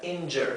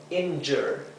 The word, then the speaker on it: injure: Esto se pronuncia injure. Fíjense que esta J, la J del inglés se pronuncia y, ¿sí?